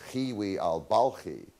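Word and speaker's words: Hiwi al-Balkhi: persia whose name was kiwi al-balki don't worry about pronouncing it just say it rhymes with kiwi that makes it easy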